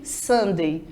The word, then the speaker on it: Sunday: que nós chamamos de sundae parecido muito com aquela sobremesa né gente um geladinho tá almoçando então tem a mesma pronúncia porém a escrita é diferente então preste bem atenção